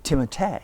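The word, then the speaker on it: Timothée: Are you really Timoteay? I thought it was Timote because of double E at the end. He's being silenced. Oh, but I would not oblige you to say it like that. Timote.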